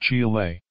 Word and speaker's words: Chile: surveying the southern part of the country of chile in spanish-pronounced chile the island of chileway and the broken land